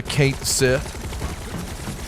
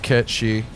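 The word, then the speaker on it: Cait Sith: you're going to get to see the the kate sith cameo i know it's pronounced kit she we call him kate sith around here because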